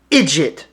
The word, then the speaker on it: idjit: First Irish slang word, idjit. It's almost a phonetically way to sound out the word idiot, with some Blarney Stone spice and flair thrown on it.